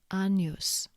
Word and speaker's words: agnus: GN is pronounced like the N in onion, for example, diniatus, agnus.